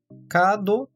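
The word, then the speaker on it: カード: Kado também tem um prolongamento do som do A da sílaba K, portanto, kado.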